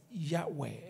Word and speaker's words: Yahweh: you when you hear that phrase Jehovah is Yahweh it's a German Theologian who translated it as